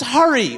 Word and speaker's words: Hari: My name is Hari. It's like hurry with a ha.